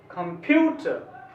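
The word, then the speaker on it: computer: तो इसका जो सही उच्चारण है कंप्यूटर, कंप्यूटर, यूथ, यूथ, ठो के पास का रुकना है, क के पास, कंप्यूटर ऐसे बोलना चाहिए, कंप्यूटर, ठीक है, कंप्यूटर।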